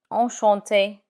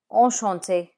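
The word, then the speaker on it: enchanté: But when you pronounce it, it's the same. Oante.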